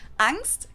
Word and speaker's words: Angst: I'm pretty sure it's angst in English and then on stand German maybe I'm wrong we're about to find out though angst capitalized in German and with the German ah basically just means fear